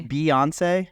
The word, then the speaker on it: Beyoncé: saying her name wrong I keep saying Beyonce and I feel like it's beonce but then when I say beonce I feel like that's wrong I you're saying it right can we just Beyonce it's Beyonce yeah beyon I feel like